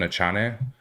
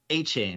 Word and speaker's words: Achane: Devin Achane. I think it's A-Chain, right? A-Chain, yeah.